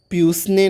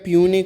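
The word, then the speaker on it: puisne: ठीक है, इसको हमें प्यूसने नहीं पढ़ना है, इसका प्रोनाउंसिएशन है प्यूने, S is the silent here. ठीक है, why a puny judge should be shifted to another state without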